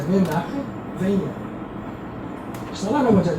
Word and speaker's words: Menachem: O CH pronuncia-se como R, 2 R's. Menachem ou Menachem.